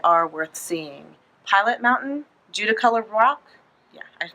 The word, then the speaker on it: Judaculla: Pilot Mountain, Judaculla Rock, yeah, I pronounced that right, Judaculla Rock, and Mount Richland Balsam.